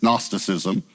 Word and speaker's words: Gnosticism: divide the word but the g actually goes with gnostic it comes from a greek word the g is silent it's gnosticism it means knowledge a